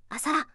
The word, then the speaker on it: asalá: For example, the word asalá, a creature named what, is formative. formative can be broadly classified into two types: nouns and verbs. A verb when the last syllable has an accent.